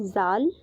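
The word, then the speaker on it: ذال: Next word है जाल। इसका प्रोनाउंसिएशन है जाल और इसके लिए हिंदी का वर्ड है जा के नीचे एक डॉट लगा हुआ है और इसके लिए इंग्लिश वर्ड है जी।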